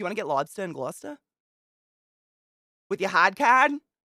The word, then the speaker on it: Gloucester: Oh, do they pronounce it Gloucester? Gloucester.